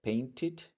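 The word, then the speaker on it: painted: ver como te decía en este caso sí tenemos que pronunciar Ed Ok Ed al final Por qué Porque como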